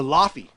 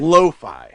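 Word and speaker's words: Laufey: Uh, number two, I used to call her Lafy before I think it was Matt Cunningham correct me. He's like, "That's not how you say it. It's Loi, even though it's spelled AU L A U F E Y."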